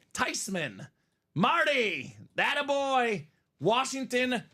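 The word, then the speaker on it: Theismann: we Gucci you know why cuz it's not pronounced Tean it's tysman tysman tysman Marty that a boy Washington Triple sign speed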